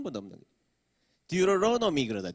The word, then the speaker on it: Deuteronomy: Deuteronomy 그러다. Deuteronomy. 모음 사이에 T 발음은 단타음 R로 바뀐다.